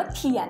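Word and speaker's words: 田: ว่า นา เขียน แบบ นี้ นี่ อ่าน ว่า เถียน นะ คะ แปล ว่า แปลง นา ทุก คน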